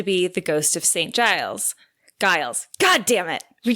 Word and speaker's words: Giles: Giles. Did you not? You had it right the first time. Oh my God, I just can't. Am I saying Giles or Giles? Giles. Giles. With a soft G.